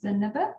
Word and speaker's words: Zenebe: And your last name is pronounced? My last name is Zenebe.